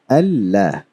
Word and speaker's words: Allah: So we pronounce it as Allah. So these two Lams, they are combined together.